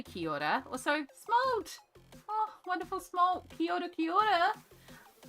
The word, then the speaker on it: kia ora: So ki, like ki, and then ora as in Rita Ora. Ki ora is the easiest way to sort of break it down phonetically.